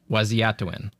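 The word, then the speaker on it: Waziyatawin: I never know how to pronounce this correctly. It's hard. Like, it's, I actually practiced it. Waziatuin. Yeah, okay. And even that's probably not exactly right. There's some cadences and inflections within the Dakota language that are hard for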